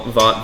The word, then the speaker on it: Vought: So even more reason not to call Vought Voight.